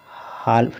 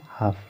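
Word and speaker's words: half: जैसे देखिए हाल्फ नहीं पढ़ रहे हैं, इसको हम हाफ पढ़ रहे हैं, इसको काल्फ नहीं पढ़ रहे हैं, इसको काफ पढ़ रहे हैं।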